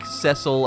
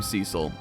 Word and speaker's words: Cecil: this name Cecil um so I know that like cesil I think is the correct way to pronounce it but that's just not how I say it I'm sorry I also have met people who are named cesil uh that pronounced their name Cecil so I think it's just like another way you can say the game or the name I literally know people